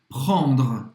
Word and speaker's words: prendre: Prend, prendre, prendre. Esse E no final não vai ser pronunciado. Você conclui a pronúncia no R.